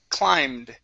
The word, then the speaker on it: climbed: you go okay uh this word here is pronounced climbed try that climbed climbed good good uh next